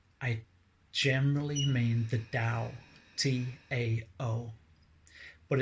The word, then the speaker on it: Tao: Now, when I say source, I generally mean the Tao, T-A-O, but it's pronounced Tao.